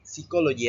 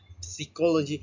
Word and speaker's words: psychology: For example, if you pronounce psychology as psychology, people might think you're talking about something completely different. Okay? In English, there are many words that start with the letter P, but the P is silent.